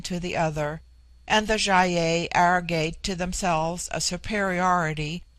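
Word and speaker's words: Gy-ei: It forms itself into Jaye for the plural, but the G becomes soft in the plural, like JY-EI.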